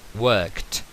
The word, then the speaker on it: worked: segunda singular o plural la pronunciación ya veremos es worked como si no sonase la e y esa d se se convirtiese en una t en contacto con la k entonces i worked you